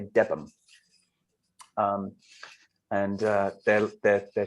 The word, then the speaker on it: Debenham: It's spelled Debenham, but I think the locals say Debb um and uh their their their church there uh doubling for Boston.